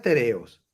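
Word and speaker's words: τηρέω: Dice la palabra, la pronunciación es tereos.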